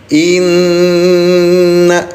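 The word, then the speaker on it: إِنَّ: Nun bertasdid, ingat bunda namanya apa? Dengungkan cara bacanya selama 2 ketukan. Inna.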